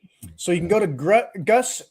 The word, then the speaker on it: Gus: So you can go to Gus. You pronounce it Goose natively.